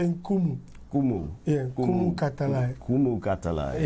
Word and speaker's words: Nkumu: Just for disclaimer, we'll make the N silent. So we'll say Nkumu. Kumu.